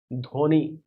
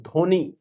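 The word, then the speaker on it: Dhvani: That is your Dhoni, not Saurya, Dhoni, Dhoni है कि धब्बन नहीं पड़ी बना।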